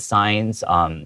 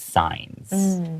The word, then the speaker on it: signs: 对 And make sure that signs, even though it has a G in the middle, it's not pronounced. The G is silent, so it's signs.